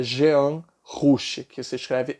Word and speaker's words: Jean: escreve ousmane sembene e Jan que é Jean rouch que se escreve